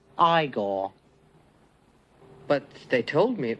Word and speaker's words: Igor: say you must be Igor now it's pronounced I gore but they told me